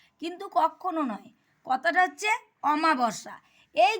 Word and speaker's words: অমাবস্যা: এইজন্য পড়ার সময় অবশ্যই শব্দের উচ্চারণের উপর সঠিক দৃষ্টিপাত করতে হবে। দেখো আমি তোমাদের এখন উদাহরণ সহযোগে বোঝাচ্ছি। এই যে আমা বর্ষা কথাটা আমরা কি বলি? আমা কিন্তু কখনো নয়। কথাটা হচ্ছে অমাবসা।